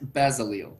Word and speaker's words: Bazil: does that say Bazil it literally says basil and I laugh every single time someone mispronounces your name because it's so easy to read it's Hebrew that's why so oh okay cool yeah yeah it doesn't read like English it reads like Hebrew Okay um but uh